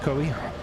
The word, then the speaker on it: Coe: That's how that's pronounced by the way. C E in Appalachia pronounced Koi.